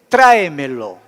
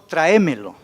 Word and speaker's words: traémelo: está muy abajo aquí a veces pronunciamos de otra vez la puede traer melo verdad traémelo y no es modismo regionalismo como costumbrismo de hablar de esa manera pero correctamente es traémelo traémelo no trae melo estaríamos entonando en otra